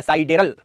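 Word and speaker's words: sidereal: पूर्ण विराम लगाकर इस काल अवधि को साइडेरियल डे, नक्षत्र दिवस, इस काल अवधि को नक्षत्र दिवस, साइडेरियल डे या साइडेरल प्रोनाउंसिएशन होता है, साइडेरल डे, नक्षत्र दिवस।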